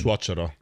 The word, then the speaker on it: suocero: Suocero.